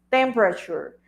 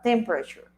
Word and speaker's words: temperature: Recordemos que la pronunciación correcta de esta palabra en inglés es temperature. The first syllable is the one that has the stress o el acento en la primera sílaba, temperature.